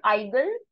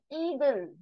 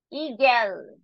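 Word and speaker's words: Igel: ha house ha how e this is not igle this is Eagle eagel to be precise eel as I told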